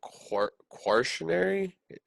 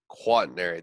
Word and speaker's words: quaternary: how do you pronounce is it questionary quaternary quaternary that's how you pronounce that cool yeah thank you